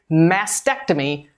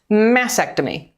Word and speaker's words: mastectomy: to cut now please note that the correct pronunciation is mastectomy not mastectomy the radical mastectomy which removes all of the